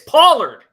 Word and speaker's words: Pollard: am I pronouncing that right polar Tony Pollard Pollard it's Pollard I got an argument on the Vegas Insider